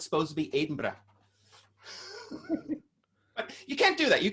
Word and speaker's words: Edinburgh: and there's london street i am on edinburgh street and you have to say it like that for anyone around here to understand what the